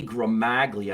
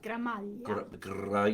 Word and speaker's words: Gramaglia: Jeannie Gramaglia. I always said G. Gramaglia. Yep. I guess you don't say the G, huh? In Italian, no. No. Gramalia? Gramaglia.